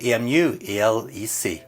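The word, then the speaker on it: EmuELEC: we go straight to EMU e-l-e-c or emu elec whichever you like to pronounce it as let's see how long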